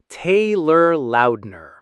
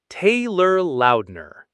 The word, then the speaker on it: Taylor Lautner: Let's break it down into four quick syllables. Tay, lur, loud, ner. Taylor Lautner.